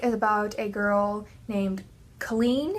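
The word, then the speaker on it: Kahlen: This book is about a girl named Colleen, is how I would say her name, but I've heard people say it other ways, but I always said Colleen.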